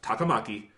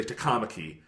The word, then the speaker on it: Takamaki: see the name and I know Japanese pronunciation. And I know that's Takamaki. Yeah. And they'll say Takamaki. And it's like, I know you guys know better than this.